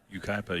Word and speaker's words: Yucaipa: Halamacek hails from, I'm going to have to get your help on the pronunciation of this California town, Yucaipa? Yucaipa, yeah.